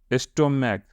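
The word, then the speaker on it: stomach: स्टोमैक, तो देखो और यहाँ क्या होगा स्टोमैक, यानी जिसका उच्चारण चौ के बदले में क होता हो, चौ के बदले में क होता हो, तो वहां हम एस लगाएंगे।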